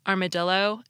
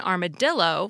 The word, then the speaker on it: armadillo: these three words tortilla armadillo and Guillotine we pronounced the two L's in tortilla like a y as they are in Spanish yet in armadillo we pronounce them like an L now let's consider Guillotine